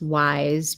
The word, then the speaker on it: YSE: It's YSE is how you spell it, and then it's Wise Beauty.